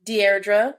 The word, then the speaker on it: Deirdre: Rosalind, Deirdre, that's how you pronounce it, and Ananka.